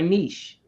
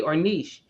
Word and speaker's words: niche: that's our niche our niche and every time i said niche i'd say ornish because i wasn't sure which pronunciation was the most accepted they're both accepted right and so recently